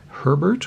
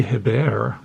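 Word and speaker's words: Hébert: Behind him, we've got Guy Herbert or Guy Hebert, depending upon how you want to pronounce his name.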